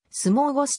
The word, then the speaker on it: smörgås: になったなお smr gs は相撲ゴスと読むほうがよりスウェーデン語本来の発音に近いパーティーなど